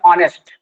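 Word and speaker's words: honest: हिंदी में उच्चारण है इसको हम बोलते हैं ऑनेस्ट। और इसमें जो इसका उच्चारण है हिंदी में ऑनेस्ट है, और ये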